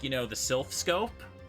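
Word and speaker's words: Silph Scope: like, you know, the Sylph Scope. They kept pronouncing it as the Slith Scope.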